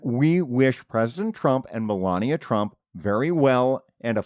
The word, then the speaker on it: Melania: her name's actually pronounced it's not you know it's not it's not milania how is it pronounced well now I don't know yeah it is Melania so you painted yourself